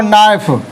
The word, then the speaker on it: knife: जैसे देखो नाइफ, KNIFE, नाइफ माने चाकू, के बोला ही नहीं।